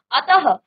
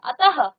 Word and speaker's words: अतः: विसर्ग क्या होता है इस ध्वनि का उच्चारण ह के समान होता है देखिए जब भी हम क्या करते हैं किसी भी शब्द में विसर्ग लगाते हैं तो ह का उच्चारण लास्ट में आता है जैसे प्रातः अतः तो ये क्या है